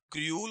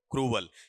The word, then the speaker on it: cruel: ये बताओ क्या बनेगा आपका, क्रूल होगा, क्रूल होगा या क्रूवल, क्रूवल।